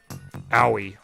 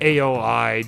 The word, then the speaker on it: Aoi: Owie. Okay. Owie. I said AOI just because I was blanking on the pronunciation, but that's most of what characters name that is uh pronounced owi.